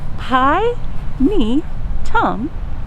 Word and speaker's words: Pinetum: is a pinedum and how do you say it pi me tom a latin word for